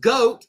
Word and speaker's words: GOTE: It would be pronounced GOAT because the word tote is TOTE.